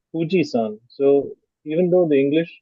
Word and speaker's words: Fuji: to type this but the actual pronunciation the way the Japanese pronounce it is somewhere between Fu and hu so it sounds more